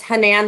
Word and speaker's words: Hanan: to clarify for everyone it's hanan like japan um so my question